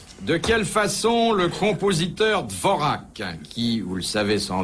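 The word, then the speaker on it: Dvořák: Dvorak. Ah, non, Dvorak. Bon, enfin, prononcez-le comme vous voulez.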